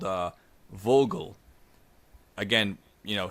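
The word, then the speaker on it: Wörgl: this town called uh Vogal again you know spelled wulle but we're going to do the German pronunciation I know I know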